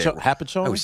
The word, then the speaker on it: Hopatcong: Hopatcong.